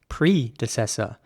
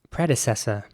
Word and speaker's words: predecessor: is spelled p-r-e-d-e-c-e-s-o-r and in british english once again it would be pronounced predecessor predecessor as opposed to the american way which would be predecessor so the e at